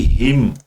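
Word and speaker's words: hymn: Comma के बाद में लिखा है एंड दी हिम an silent रहता है इसके अंदर।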